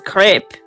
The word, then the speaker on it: Crap: It's spelt crap, but his mum was French, so it's crepe. Yep, there we go. It's crap, but it has a really long accent on the A.